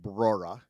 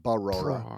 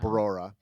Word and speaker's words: Brora: Talk about There was a golf course in Brora you really liked. Brora is how you pronounce that? You added a syllable, I think. It's just You said it right the first time, Brora, not Barora, but Brora.